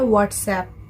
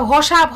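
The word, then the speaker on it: WhatsApp: ওটা হোয়াটসঅ্যাপ। ওসব হোয়াটসঅ্যাপ হোয়াটসঅ্যাপ কিছু নয়, ওটা হসাপ।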